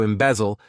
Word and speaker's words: embezzle: To embezzle, this verb has 3 syllables, and the stress is on that second syllable.